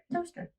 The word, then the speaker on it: Towcester: Toaster. Is that really how it's pronounced?